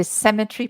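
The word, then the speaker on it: cemetery: well it isn't really just say SEMA SEMA and then think of an a tree semet tree there you are sem tree SE the stress the stress is on the first syllable cemetry cemetry cemetry that's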